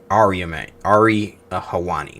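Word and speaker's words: Ariel Helwani: was recently on Ari Hawani.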